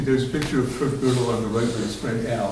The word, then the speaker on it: Gödel: And the interesting thing is that a man named Kurt Gödel, it's pronounced like Girdle if you don't speak your German.